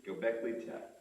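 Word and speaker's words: Göbekli Tepe: cities that we see uh I will never pronounce it right g go gockley te thank you gockley te uh a city that is estimated to be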